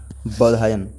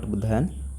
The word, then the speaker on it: Bodhayan: I pronounced it wrong, that is Bodhayan, not Buddhayan, Bodhayan है ये।